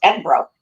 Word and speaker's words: Edinburgh: You have to say it right. The train conductor taught us Edinburgh. That's how you say it.